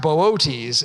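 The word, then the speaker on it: Boötes: But it is pronounced Bootees is the correct pronunciation.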